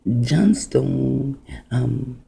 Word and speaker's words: Johnstone: Now, John Stone, John is a derivative of Jacob. And the S-T-O-N, although you do not see the E, it still is Johnstone, right? Now that E is silent and you do not see it.